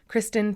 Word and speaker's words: Kristen: can see that but it does sound like Kristin but it's definitely en